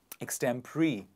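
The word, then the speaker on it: extempore: that speech that speaking pattern is called extembri ex tempori please repeat after me x stem extend pre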